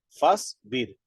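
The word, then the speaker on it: فاصبر: No se puede decir fasbir. No, fasbir. Entonces, como apareció un sukun, quiere decir que borra la alif en la escritura aparece, pero no en la pronunciación.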